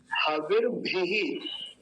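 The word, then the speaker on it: हविर्भिः: हविर भी। और भकार पर इकार के बाद विसर्ग भी बना हुआ है, ये देखिए, हविर भी, ऐसा। तो पहली पंक्ति का ये उच्चारण पूरा हुआ।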